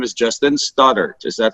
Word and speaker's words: Stoddart: special guest here today his name is Justin Stoddard is that how you pronounce it right says perfect act perfect wonderful